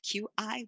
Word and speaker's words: qi: It's actually spelled Q-I, but in English, it's pronounced qi.